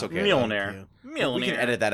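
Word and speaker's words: Mjölnir: That like it's kind of like Mjolnir, Okay. like Thor's Okay. Yeah, hammer. What did you just call it? So, I know I butchered that. I'm sorry. It's Mjolnir. Yeah, It's okay. Mjolnir.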